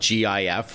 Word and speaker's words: GIF: but on one side it's spelled g i f with a hard g or GIF, and then the other one is j i f, which is really what the the product is called with a soft G.